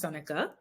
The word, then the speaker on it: Seneca: So my name is Seneca, pronounced Seneca.